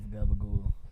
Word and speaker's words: capicola: C is the more like a hard G.